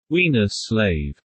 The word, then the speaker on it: Weinerslav: Jeffrey Weinerslav, Todd Buonopane, pronounced Wiener Slave, works for GE Human Resources.